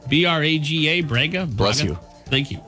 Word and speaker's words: Braga: Let's see if I can pronounce this. Braga, B-R-A-G-A, Braga.